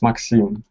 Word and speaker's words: Maxim: You're talking about my name? Yeah. Yes. It's Maxim. Yeah.